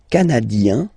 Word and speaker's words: canadien: Le Canada, canadien, yin, here, canadien, canadienne, yen.